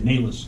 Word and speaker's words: Naylis: Yeah, Naylis, like the horse.